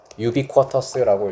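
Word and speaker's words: ubiquitous: 자, 이거 reliable은 신뢰할 수 있는이란 뜻이고 신뢰 가능한 그리고 유비쿼터스는 어디에나 있는이란 뜻입니다. 어디에나 있는 좀 어려운 단어예요. 어디에나 있는 혹은 도처의라고 한자으로 표현하기도 합니다. 도처에 있는 유비쿼터스라고 읽어요. 유비쿼터스.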